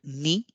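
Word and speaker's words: に: horizontal line single horizontal line two is called knee and the kanji here you can see two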